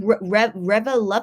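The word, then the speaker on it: ReVeluv: How do you pronounce their fan club name? Revelub, but I know their nickname is called Lubby, so I'll just call them Lubby.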